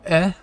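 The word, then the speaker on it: え: we have a u for next we have e for like egg and this is one you're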